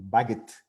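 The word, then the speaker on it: Bagehot: cita famosa de esto, este nombre se pronuncia Walter Bagot. No sé por qué, pero los ingleses a veces tienen esa costumbre de escribir los nombres de una manera que si uno no lo ha oído no sabe cómo se pronuncia.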